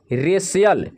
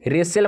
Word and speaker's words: racial: यहाँ पे देखिए यदि C के आगे IA हो तो C का उच्चारण स होता है।